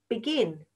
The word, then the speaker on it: begin: For beginning and beginner, the root word is begin, begin, begin. 2 syllables.